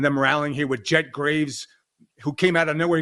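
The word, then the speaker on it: Greaves: If Greavves or Graves is how you pronounce his last name, the Columbus goalie. Oh, Jed Greavves. Yeah, I think it's Greavves. Yeah, it's Greavves. That's how it's spelled.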